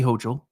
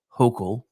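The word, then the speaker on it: Hochul: announce that she is filing charges against Kathy hoel and I'm sorry I know it's supposed to be pronounced hok but I prefer hoel because then I can call her Kathy which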